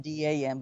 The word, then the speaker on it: dan: The vertical row is a single thread, and the horizontal rows are those, they're called the dan, which is spelled D-A-N, but pronounced dan.